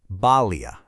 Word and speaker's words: bali: In Sanskrit, it's called a bali. You say it like this, balia.